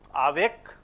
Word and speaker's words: avec: Avec, avec, not avec, avec, very clearly a.